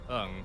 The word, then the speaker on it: Ung: The financial controller, a man named Philip Ung, has disappeared, along with millions of dollars from the company's coffers. The last name N and G has the pronunciation of Ung.